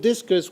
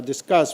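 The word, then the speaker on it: Disqus: plus facebook etc and i put discus which is this uh discuss rather that's how they pronounce it it's uh in a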